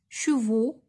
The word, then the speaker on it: chevaux: Chevaux, la même chose, ما نطقتهاش دونك حتى هي غنطوريها.